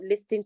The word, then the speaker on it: listen: course please the word l i s t n is not listen it's not listen to me it is listen the t is silent and no the sound